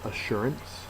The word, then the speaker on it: assurance: So, the first word is assurance. Assurance is a noun. The second syllable is accented and it means a pledge or freedom from doubt.